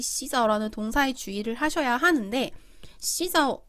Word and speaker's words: 洗澡: 자, 이 洗澡라는 동사에 주의를 하셔야 하는데 洗澡 발음은 洗澡라고 합니다.